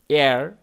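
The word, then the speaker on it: air: এয়ার উচ্চারণ খেয়াল করুন আমরা অনেকেই ইয়ার বলে থাকি উচ্চারণ খেয়াল করুন এয়ার এয়ার এয়ার এরকম ফ্রেশ এয়ার কাম উইন্ডো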